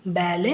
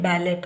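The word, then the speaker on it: ballet: ಟಿ ಬಂದಾಗ ಇವುಗಳನ್ನ ಉಚ್ಚರಿಸುದಿಲ್ಲ ಇಲ್ಲಿ ಮೂರು ಕಡೆ ಇದೆ ನೋಡಿ ಇದು ಬ್ಯಾಲೆ ಬ್ಯಾಲೆಟ್ ಅಲ್ಲ ಬ್ಯಾಲೆ debut crochet ಬ್ಯಾಲೆ debut crochet ಇಲ್ಲಿ ಕೊನೆಯಲ್ಲಿ ಇದೆ ಸೈಲೆಂಟ್ ಆಗುತ್ತೆ ಟಿಸಿಎಚ್ ಪದಗಳಲ್ಲಿ ಒಂದು ಪದ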